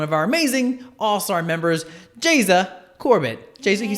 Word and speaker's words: Geisa: So my mother is from Brazil, and Geisa, that's how you say it in Portuguese, is Brazilian.